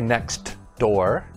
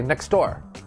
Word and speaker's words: next door: when the sound disappears you see a t or a d in a in a word but we don't pronounce it clearly for example the first one is next door but we don't say next door we say next door